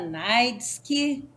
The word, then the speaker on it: Neitzke: Eu que agradeço pessoal é só Silvana nightsky como se fala meu sobrenome sou baixinha tem 1,54